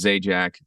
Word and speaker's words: Zajac: for sure so my my actual last name is z Jack Z AJ a c and I mean I'm